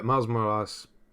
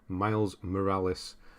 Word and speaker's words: Miles Morales: there hello gundam uh miles more ass that's not how you say his name miles morales is uh yeah i